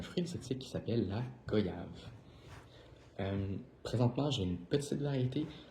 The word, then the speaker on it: goyave: Donc premièrement, pour l'étymologie du mot, donc goyave en fait, ça se prononce goyave. Donc c'est comme s'il y avait un i mais qui est pas là.